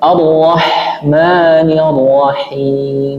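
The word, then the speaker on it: الرحمن الرحيم: campur-campur huruf campur terus yang benar bagaimana? Arrahmanirrahim. Bersih. Bersih. Huruf ha itu huruf yang paling halus ya. Ah ih. Terus jadi ee apa namanya? yang paling mudah diucapkan. Terus melemahkan sifat anas mengaliras. Ah, enggak jelas ya hurufnya jadinya. Contohnya arrahmanirrahim harusnya disempurnakan sifat hames dan rakhawanya pada sukun. Contohnya arrahmanirrahim. Arrahmanirrahim. Biar huruf itu tuh hidup.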